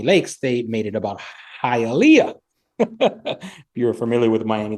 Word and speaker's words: Hialeah: director say, hey, Ben, can we try saying Hialeah? Or again? Even his buddy. Because Matt Damon said it right. The whole supporting cast, everybody got it perfect. But Alea. Yeah.